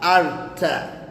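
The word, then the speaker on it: altı: Na namba sita utamkwa Arta.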